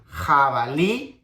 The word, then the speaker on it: jabalí: So we have jabalí, jabón, jinete. It's like the H sound in Spanish, but stronger.